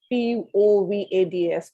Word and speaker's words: POVADs: So sometimes for something to be in place, that we have to pronounce it as a one word. Yeah, as POVADs. As you pronounce it as POVADs.